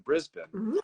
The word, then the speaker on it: Brisbane: well who lives in Brisbane and I said it right too it's not Brisbane it's Brisbane uh so Sienna tell